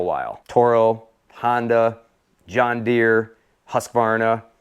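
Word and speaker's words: Husqvarna: Toro, Honda, John Deere, Husvarna, or Husk Varna as some like to pronounce it, Snapper.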